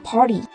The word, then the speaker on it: party: T đứng giữa R và I nên là T đọc thành D và đọc là Party.